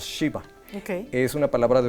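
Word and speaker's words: Gxiba: Ghiva, pero se pronuncia nada más Shiva.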